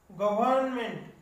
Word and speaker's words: government: Then government, R silent आहे pronunciation मध्ये, government, but there is R in spelling.